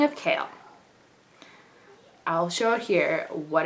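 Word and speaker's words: Chaol: And in my opinion, like unless like it's derived from like a different language or something, and so it's pronounced like Kale, I just find it really weird that this is considered spelled like Kale.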